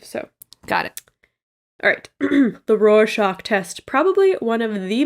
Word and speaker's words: Rorschach: read online and said it was like roar like a lion and then shock like a shock wave so got it the roar shock test probably one of